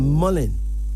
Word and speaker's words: mullein: If she wants to have another herbal beverage, she can get a herb called mullein. Mullein. Yes, How you spell that?